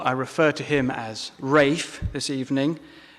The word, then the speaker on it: Ralph: refer to him as Rafe this evening definitely Rafe and not Ralph and I suppose it's